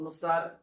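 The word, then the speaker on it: knee: पद्धत होईल म्हणून आपण के या ठिकाणी काय म्हटलेला आहे सायलेंट काम करत असतो म्हणजे शांत तो असतो त्याचा उच्चार होत नाही सेकंड के एन आय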